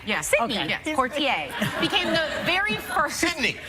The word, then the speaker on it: Poitier: Sydney put kid I said it right yes quartier became the very person me heaven 1963 lilies